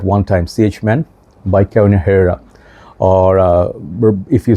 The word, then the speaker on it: Carolina Herrera: Hype Beast at one time, CH Man by Carolina Herrera, or if you say properly, Carolina Herrera, okay? H is silent.